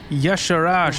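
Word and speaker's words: Y'Shaarj: Kathun, Yagseron, Yasher, and Yasharaj is how you say that.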